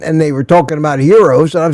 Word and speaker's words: gyro: Yeah, that's the That's the Greek pronunciation, but I'm I'm not trying to correct you because we've adopted the American pronunciation where it's spelled gyro and everybody says gyro.